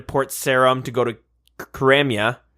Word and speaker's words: Karamja: Sarum to go to Karamja. I think it's pronounced Karamja. I heard that. Really? Anyway, yeah, the J is silent.